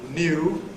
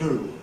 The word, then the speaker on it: new: After N, however, where the standard pronunciation involves N plus yod, new, London speech drops the yod, so you get new.